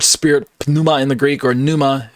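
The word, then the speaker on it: πνεῦμα: in the Greek or Numa however if you want to pronounce the P or not uh uses this word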